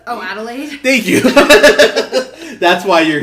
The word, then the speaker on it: Adelaide: gonna push it I'm gonna ask you to pronounce the black name oh Adelaide thank you that's why you're here just lost